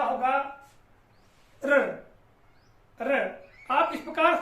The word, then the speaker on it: ऋ: तो यहां पर देखिएगा, इसकी बात करें इस वर्ण की, तो इसका उच्चारण होगा र, र।